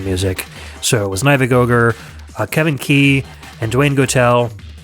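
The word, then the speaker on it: ohGr: It's pronounced Ogre, just like the lead singer's pseudonym, but it's spelled O-H-G-R. Ogre.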